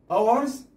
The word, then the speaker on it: hours: لاحظ hours الاتش لا تلفظ، لا نقول hours، إذن hours نكتب الاتش لكن لا نلفظها.